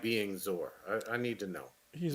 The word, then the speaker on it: Zor: ZOR. Z0R. Yes. Yeah, it is. Yeah. Because I asked him live in the chat how do you pronounce his name. He said it is Zor.